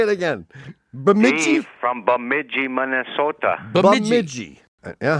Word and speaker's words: Bemidji: Bamiji. From Bumiji, Minnesota. Bamiji. Yeah. How do you spell it?